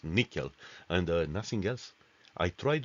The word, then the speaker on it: N1QL: on sql plus plus the former n1 ql pronounce nickel and nothing else I